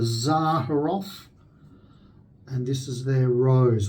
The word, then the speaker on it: Rosé: And this is their Rose, or Rosé, I think that's actually pronounced, the same as the wine.